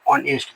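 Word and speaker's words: honest: ये ऑनेस्ट है। ऑनेस्ट में यहां पे एज को साइलेंट कर दिया जाता है। ऑनेस्ट बोला जाता है।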